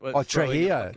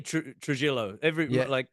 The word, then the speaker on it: Trujillo: Trujillo. Jeez, did I just mispronounce that? What? It's the Spanish. You can say Trujillo. In Mexican or Spanish, Trujillo, because the gringos say jalapenos.